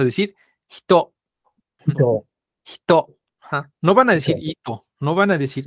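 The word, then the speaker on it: ひと: Cómo se pronuncia esto la i aquí se va a ensordecer porque está entre dos hordas la H y la t Entonces se va a pronunciar de manera muy débil y la i hace que esta H se pronuncie muy parecido a nuestra jota Entonces como y la sílaba alta Esto entonces vamos a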